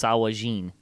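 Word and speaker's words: sahuagin: word and it's pronounced sawajin well according to chris perkins the gin at the end is always pronounced jin it's a hog jin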